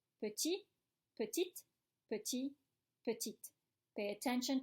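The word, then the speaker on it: petits: Petit, petite, petit, petite. Pay attention to the pronunciation. Am I pronouncing the S's? Petit, petite, petit, petite. No, I don't pronounce the S.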